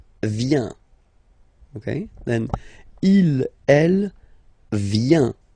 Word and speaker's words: vient: Okay, then il, elle, vient. Final T, not pronounced. Il, elle, vient.